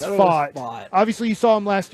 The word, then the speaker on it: Pfaadt: Fad T, if you want to just pronounce it the way they spelt it. Fott? It's Fott.